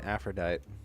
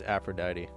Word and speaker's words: Aphrodite: But dude, I mispronounced Aphrodite 5 million times in that video. I kept calling I kept saying Aphrodite. It's Aphrodite.